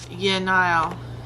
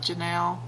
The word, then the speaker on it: Yenile: We'll do his other daughter, Yenile. So this is how it's spelled. I always call it Janelle, but it's Yenile.